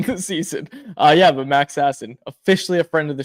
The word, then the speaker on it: Sasson: I switched up his pronunciation again. I keep switching in between, even though I'm pretty sure it's Sasson.